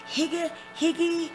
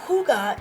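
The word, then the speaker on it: hygge: of people are like how do you pronounce that is that higgy what's going on but hyuga is actually the Danish art of creating joy and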